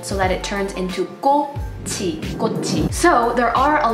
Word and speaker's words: 꽃: 꽃, which is flower, you do not pronounce the chiit at the end. You don't pronounce it as 꽃, you pronounce it as 꽃, so it turns in sort of to like a T sound.